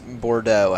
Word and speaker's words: Bordeaux: Is it the way you pronounce the airport? It is Bordeaux after looking it up.